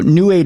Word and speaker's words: Nuate: So New 8 is spelled Nuate.